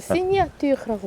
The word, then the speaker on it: signature: 근데 그걸 시니아뚜르라고 발음을 하지? 프랑스어니까 시그니처라고 쓰고 발음은 시니아뚜르.